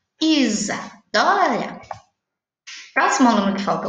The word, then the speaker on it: Isadora: Isa. É que nem o nome da professora Rosana. Fala za, mas na verdade se escreve com S.